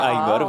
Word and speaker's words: Igor: odgrywa cię rolę garbatego Igora Co to za postać poprawnie Igor wymawia się Ajgor właśnie tak tutaj moja postać zawsze zaznacza poprawną wymowę swojego imienia postać jest to mały